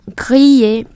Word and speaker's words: grillé: Alors, je mange du bœuf avec des pommes de terre grillées, nướng lên. Gr chứ không phải khờ r. Grillé.